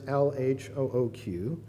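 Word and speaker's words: L.H.O.O.Q.: mustache, a goatee, and the letters LHOOQ. And when pronounced very quickly, it sounds a little bit like Elle a chat à coudre, which would translate roughly to she's got a hot ass.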